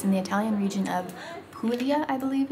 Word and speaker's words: Puglia: brush alberobello is in the italian region of puglia i believe it's pronounced and they are famous for a specific